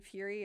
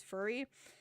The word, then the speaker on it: fury: Basically, I didn't realize until this stream that I was accidentally mispronouncing fury as furry.